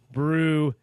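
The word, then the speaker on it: brujería: And oh, yeah, brujeria is pronounced brujeria.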